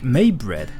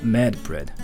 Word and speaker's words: Medbread: By the way, my name is said like Maybread. Oh, so it's not Medbread.